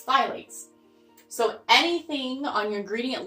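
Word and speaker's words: phthalates: it's spelled with a pea but the P is silent so it's kind of a weird word but it's Pylades so anything on your gradient list then ends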